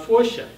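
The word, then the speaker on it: Foca: The book is set in a town called Focia, spelled F-O-C-A, but pronounced Focia.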